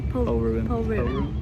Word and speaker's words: Polruan: Polruan.